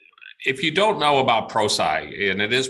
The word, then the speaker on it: Prosci: you don't know about prosci and it is proside we get often asked how do you pronounce it and it's it stands for professional science so the firm's been